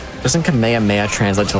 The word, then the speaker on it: Kamehameha: Definitely not pronounced that way, but yeah. I mean, I was going to say like it's not pronounced the Yeah, like DBC. Exactly. Yeah. Like Kamehameha or something. It is Kamehameha.